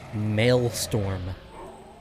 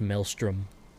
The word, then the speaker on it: maelstrom: for the longest time i've always called it mailstorm but i'm pretty sure it's actually pronounced maelstrom actually i think it